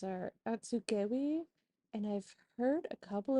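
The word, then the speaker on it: Atsugewi: right now hey it's editing Lisa here the pronunciations are atsugi and I've heard a couple of different pronunciations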